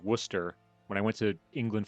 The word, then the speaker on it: Worcester: But apparently you just don't pronounce any of the middle part and it's Worcester.